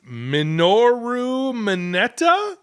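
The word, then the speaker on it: Minoru Mineta: cool my hero Academia I'm going to not pronounce this right do it it is minoru manetta minoru minoru manetta you nailed it I think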